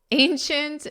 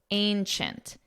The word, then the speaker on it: ancient: Ancient means extremely old. And notice the pronunciation, chint, chint, ancient, ancient.